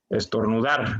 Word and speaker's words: estornudar: estornudar como habíamos comentado la sílaba tónica es dar porque la sílaba acciones con mayor intensidad dentro de la palabra es decir tenemos estornudar dar suena más fuerte o lo pronunciamos más fuerte digamos por lo tanto